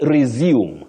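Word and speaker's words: résumé: we have Peta UGA you say resume the verb is resume to resume work but when you're talking about CV MH curriculum V CV you say resum resume not resume the verb is resume but CV the noun is resume then we have maiti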